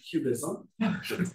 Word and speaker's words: QBism: about is something called cubism don't pronounce it cubism pronounce it like the art movement cubism um and what is